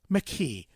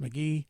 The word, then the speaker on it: McKee: McKee, and it's not pronounced McGee.